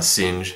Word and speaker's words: sinh: it's also called a sing so sin H uh of the variable X so uh just pronounced sing of X and uh the derivative